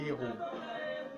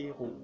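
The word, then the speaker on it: Eru: Et le mets que nous voulons vous présenter ce soir, il s'appelle le Héro. Il s'écrit E-R-U. Le Héro.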